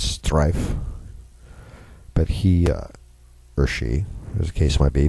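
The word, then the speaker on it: Streiff: where um Strife does I think that's how you pronounce his name. S T R E I FF. I speak German, so I'd say it's Strife.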